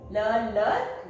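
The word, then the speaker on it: leur: And for ils and l, that means they, that is L-E-U-R, le.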